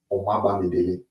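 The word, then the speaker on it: Omobamidele: And I pronounce it, I'm Nigerian. So Omaba Midele.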